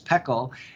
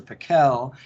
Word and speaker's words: Pekel: wrong and in fact you pronounce my name like my grandparents pronounced my name which was Peele and then my dad